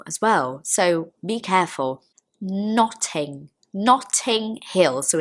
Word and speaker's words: Notting Hill: Notting Hill.